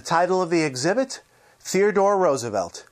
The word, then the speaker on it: Roosevelt: and yes it's pronounced roosevelt and never roosevelt you see teddy liked to pronounce it the same way as his favorite flower the rose sagamore hill is now